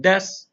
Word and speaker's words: desu: is being used as a particle so we pronounce it as W so we have Des and de Haren and please notice the pronunciation